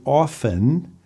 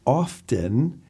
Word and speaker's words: often: when you're listening and you hear somebody say often and someone else says often do you notice it do you practice it often often often often they're both correct how about the pronunciation